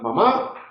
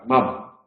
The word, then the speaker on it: mamá: Mamá se puede pronunciar como aguda, mamá, o como grave, mamá.